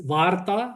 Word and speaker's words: Varta: And by the way, just to get the pronunciations right, it's Varta as in Vartalap, as we say for a dialogue in Sanskrit.